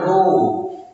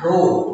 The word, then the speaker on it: rho: This is called rho. Now we have to say it as rho, R-H-O, rho.